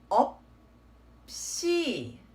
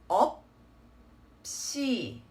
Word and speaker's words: 없이: of two different consonants, then you just want to carry on the sound of the second. For example, this would be pronounced as 없이 없이 없이.